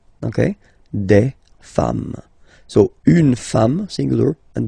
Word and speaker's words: des femmes: singular form, and then you just add this s at the end, and as we said, you don't pronounce it, so you get des femmes. Okay, des femmes.